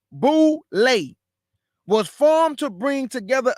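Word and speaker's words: Boulé: The boule, an acronym for Sigma Phi Phi, and pronounced boule, was formed to bring together a select group of educated Black men and women, fashioned after the Yale Skull and Bones.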